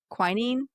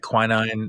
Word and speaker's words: quinine: We all had to get, you know, practice Irish accents and they pronounce uh it's Americans might say it quinine or something like that, but the the Irish will say quinine like I think wherever